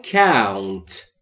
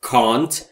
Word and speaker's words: count: I count. I count. I یعنی من. Count با همین تلفظ و نه can't و نه can't و نه count یعنی شمردن.